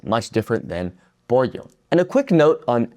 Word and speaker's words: pollo: However, the most common pronunciation of the double l in the Spanish speaking world is as a y sound.